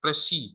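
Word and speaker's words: précis: slash C-I-S, so this is that actual term which have come from Latin and now is used in English. Prezi, Prezi. ठीक है? And then जब भी, for example, ये term होगा, इसको आप pronounce करेंगे Prezi, Prezi.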